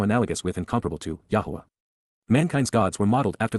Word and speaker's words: Yahowah: achievements even miraculous fulfillments Yahwa Yahwa the proper pronunciation of the name of Eloha God as